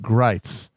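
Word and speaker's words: Gritz: name is spelled grits and he insists on pronouncing it grites you dude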